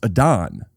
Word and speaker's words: Adam: A-D-A-M pronounced Adon.